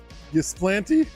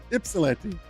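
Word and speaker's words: Ypsilanti: I was like, "Gplanty." He just started laughing. Ipsilante.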